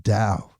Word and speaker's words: Tao: the Dow Stock Market, but the TAO, the pronounced DAO. That got me for a really long time. I always thought it was Tao. And then somebody's like, "No, dude. Dao." Like, "Oh, got it."